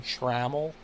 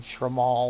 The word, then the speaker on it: Trammell: But he was pronouncing this guy that we just signed that used to be in our organization Trammell. And he was calling him Tramal or something.